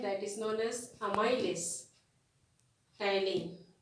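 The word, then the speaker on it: ptyalin: is known as amylase tylin. P is silent, please remember that here.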